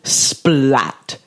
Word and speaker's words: Splat: It's a hard T. It's German.